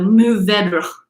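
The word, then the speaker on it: Mourvèdre: pronounced more vegerae um basically you swallow all of the r's in this word so mu vedra is how it could be pronounced but moved all we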